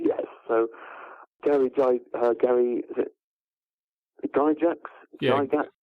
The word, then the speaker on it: Gygax: So Gary, is it Gygax? Yeah, Gygax, yeah. Gygax, I've never known how to pronounce it.